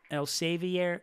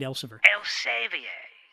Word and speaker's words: Elsevier: company international dutch actually read el salvia ink el saviere inc el savier inc okay that's how you pronounce that i thought it was read elsevier inc okay well you gotta